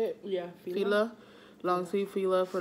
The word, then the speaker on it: Fila: Yeah, Fila.